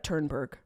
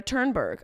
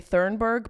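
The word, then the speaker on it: Thunberg: where aw is Greta turnberg I think that's how you say it my instinct is to say thurnberg but that feels very wrong you know when you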